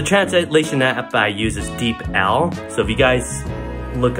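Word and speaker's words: DeepL: But the translation app I use is Deep L. So if you guys look up Deep L, deep, like you're deep in the water, and L, and yeah, it's the best translation app.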